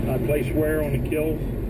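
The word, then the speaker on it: kiln: place wear on a kill it's not supposed to hit the floor he calls the ovens which fire the China kills spelled k i l NS but Potters don't pronounce that n seven out of eight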